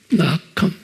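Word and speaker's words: נחם: 발음은 낙함이라고 써 있어요. 낙함.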